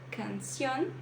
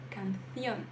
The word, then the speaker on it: canción: Então, ao invés de pronunciar canción, canción, canción, você dá uma prendida na letra C, canción.